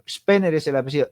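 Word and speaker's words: Spener: ¿Cómo se pronuncia el nombre de ese protestante? Spenner. Spenner es el apidido s p E n e r. Spenner.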